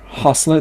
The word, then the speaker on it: hustler: Hustler, даже T здесь не произносится, sorry. Hustler. Вот так оно читается.